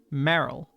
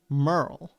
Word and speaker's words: Merle: And I always, for the longest time, said Merrill because it's an E, so I say meh, right? Meh. But it's actually pronounced Merle with sort of a U sound, right?